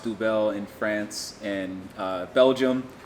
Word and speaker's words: Duvel: the day is here comes double obviously it's pronounced duvel in france and uh belgium but this is